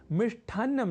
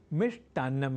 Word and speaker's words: मिष्टान्न: है अपूर्ण और अशुद्ध, क्योंकि मिष्ठ की जगह मिष्ट इस संस्कृत शब्द का होता है व्यवहार सर्वथा शुद्ध, अर्थात मिष्ठान्नम नहीं मिष्टान्नम ही। तो आज आपने जाना कि लेखन और उच्चारण की दृष्टि से श्रेष्ठ नहीं श्रेष्ठ होता है शुद्ध शब्द, और ऐसे ही लेखन